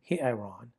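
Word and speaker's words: ἱερόν: And then you have hieron. Remember the rough breathing has an H sound? Hieron.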